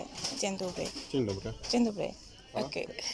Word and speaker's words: dzień dobry: Is it dzień dobry? How do you say it? Dzień dobry.